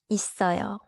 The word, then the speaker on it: 있어요: 정답은 A예요. 있어요 is written 있어요. And the natural linked sound is 있어요. B, 있어요, is too weak because it loses the tense sound. C, 있어요, adds an unnatural extra vowel.